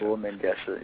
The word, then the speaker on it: Lull Mengesha: Lull Mengesha, yeah.